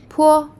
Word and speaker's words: 坡: 坡 it sounds like the letter P in the word pat, but it is aspirated,